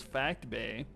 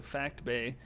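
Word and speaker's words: Phact Bay: And my number 5 planet is Fact Bay, spelled with a PH and not an F. So Fact Bay.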